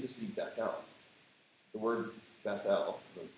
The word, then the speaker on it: Bethel: The word Bethel, the reason I pronounce it that way is because the word is Bet-El, and it means house of God.